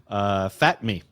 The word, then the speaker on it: Fatme: Fatme. This is M-E. Yeah, you can spell it different ways.